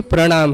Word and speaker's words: प्रणाम: र और मूर्धन्य स के बाद अगर न आता है तो उस न को ण उच्चारण किया जाता है अथवा ण लिखा जाता है, तो इसीलिए उस नम धातु का ही ण हो जाता है, तो वहां से प्रणाम है।